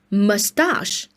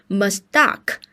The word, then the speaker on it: mustache: Mustache. So, please pay attention here. 注意这的发音啊，它不是 mustache，哎，这里的 ch 不发 k 也不发 ch 的音，它发的是 sh mustache，并且它的重音呢在这里，OK mustache， all right，哒哒是这样的发音 mustache。